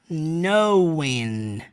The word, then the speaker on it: knowing: E quando você pronuncia essa palavra aqui, é muito importante você lembrar que aquele K é mudo. Então, not knowing.